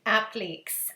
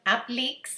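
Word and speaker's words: appliqué: the would you bend appliques and i got in trouble for calling them app leaks before because that's the french canadian way of saying it and everybody was saying it's applique however you pronounce it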